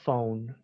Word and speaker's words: phone: A cell phone. La PH en inglés suena como F.